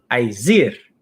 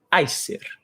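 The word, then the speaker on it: Æsir: As pessoas, geralmente em português, chamam de Aesir. A pronúncia em nórdico antigo é Aesir.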